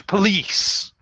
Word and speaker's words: police: word yes you're close police police so the o is schwad we don't say a no so we don't say police no absolutely not because the o is changed to a schwa and then the second